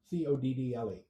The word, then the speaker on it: coddle: Coddle. Sort of like a cuddle, but with an O.